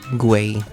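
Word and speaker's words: Güell: and so once again we headed to park gu and that's how you pronounce it and This Is Us finally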